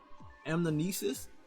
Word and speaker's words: Anamnesis: The bow we mainly using today is Anamnesis. That's how you pronounce it.